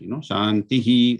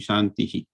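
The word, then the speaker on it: शान्तिः: After the end, whenever there is an end of sentence, the Visarga has to be fully pronounced, Shantihi, like that. It will be Shantihi.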